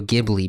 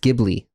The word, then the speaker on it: Ghibli: when you put a when you put an H after the G it becomes a g sound okay so that's why it's pronounced gibli okay that's nice what